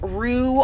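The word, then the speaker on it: REW: This is a roo, also known as a red-eyed white, so it's spelled R-E-W instead of R-O-O.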